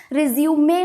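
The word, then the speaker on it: résumé: Clear कर दूं कि इसका प्रोनाउंसिएशन हमेशा रिज्यूमे होता है, रिज्यूम नहीं। रिज्यूम दो एक वर्ड है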